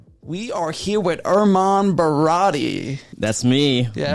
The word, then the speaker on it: Baradi: Baradi rhymes with karate and Maserati.